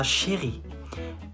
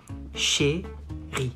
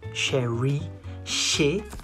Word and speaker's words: chérie: You say ma chérie. Mon ou ma chérie. Chérie. Not chérie. Chérie. Ri.